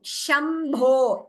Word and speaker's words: शम्भो: So shambho is sh, kilbisha is sh. So that difference we have to make. Again, there are different sutras which tell us how to pronounce each of them. But for now, let us note this difference, sh and sh. When I say sh here, kilbisha, the tongue is slightly turning upwards towards the roof of the mouth, kilbisha.